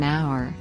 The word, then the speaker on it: hour: the word you an hour an heir an honor and not a is used because the consonant h in these words is not pronounced nouns plural nouns nouns